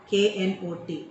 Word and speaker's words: knot: KNOT. Look at the spelling. KNOT. NOT അല്ല, KNOT. K is silent.